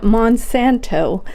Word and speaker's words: Monsanto: Wait, how do you say that? Monsanto.